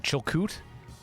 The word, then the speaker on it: Chilkoot: want to pronounce it i've been saying chilcoot yeah that's correct distillery oh man i